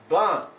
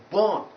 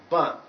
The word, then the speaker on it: burn: So it is pronounced as burn, burn, not born or boon, but burn.